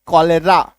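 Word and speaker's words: cholera: कोलेसिस्ट सी एच ओ एल ई आर ए कोलेरा सी एच ओ एल ए एन जी आई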